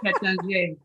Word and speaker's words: Taittinger: I've been to Taittinger, and they provided the appropriate pronunciation, which is Taittinger.